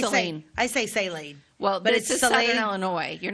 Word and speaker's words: Saline: up that's you mhm so it's not S no I say sine well is Southern Illinois